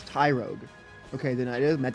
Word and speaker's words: Tyrogue: Oh, it's Tyro, which is a beginner. So, it's Tyrogue.